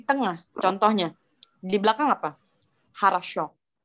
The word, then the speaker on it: хорошо: Harasho, dia di belakang.